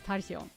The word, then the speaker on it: Tachion: Tachion is pronounced with a K, I think. Where is the K going? Takion? Takion? Is that it? I don't know how to pronounce it in English, but I think in Japanese they say Agnes Tachion. So that's what I say.